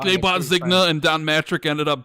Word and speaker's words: Zynga: Everyone's mad that we're pronouncing it wrong. It's Zynga.